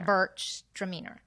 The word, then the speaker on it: Gewürztraminer: Gewürztraminer? Gewürztraminer. Okay, I've never had one. I've had Gruner Veltliner, but never a Gewürz. How do you say it? Gewürztraminer. So Gewürztraminer. It's Gewürztraminer.